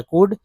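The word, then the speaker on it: could: फॉर एज ही कुड, एल को यहाँ पर साइलेंट रखा गया, कुड, यहाँ देखिए OW को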